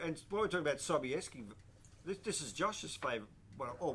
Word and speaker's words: Sobieski: I actually thought we'd end up with a honey, but if you reckon honey's next, Is that the way we pronounce it? Sobieski, yes, it is.